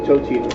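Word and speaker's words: Totino's: to spell it yeah it's either tortinos or to totinos one of the two I think it's totinos those are Pizza those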